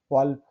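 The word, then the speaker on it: wolf: Exception, वॉल्फ, ठीक। पढ़ रहे हैं उसको, वॉल्फ।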